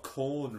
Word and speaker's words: Quorn: Yes, you do, because that's exactly how it's pronounced. It's Q-U, which is O-R-N. Corn.